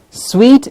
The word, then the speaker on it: suite: pronunciation as sweet okay a hotel suite is also the same as sweet yes sweet and sweet